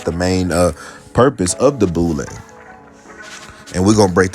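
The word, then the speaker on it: Boulé: The Boule, the acronym for the Sigma Pi Phi, pronounced Boule, was formed to bring together a select group of educated black men and women, fashioned after the Yale Skull and Bones.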